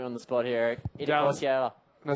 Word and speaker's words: Itacoatiara: Itacoatiara. No, say it again. I'm trying. Itacoatiara. Itacoatiara. You say it in one syllable.